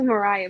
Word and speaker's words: Mariah: can you hear us Maria yeah it's actually Mariah but no hey my